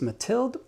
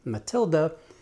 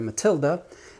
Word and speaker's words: Matilde: Now, I do know that most people pronounce this Matilde. I have had people from this part of the world write me and correct me that the way this is spelled, Matilde, is actually pronounced Matilda, and they would appreciate